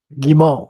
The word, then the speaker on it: Guimont: Guimont. Yeah, you don't pronounce the T like a lot of French words. There's extra letters that are just there to be pretty.